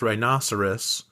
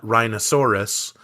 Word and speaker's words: rhinoceros: Um, I I had I had a long conversation with a kid trying to explain that rhinoceros is pronounced rhinoceros and not rhinosaurus and that they are not dinosaurs.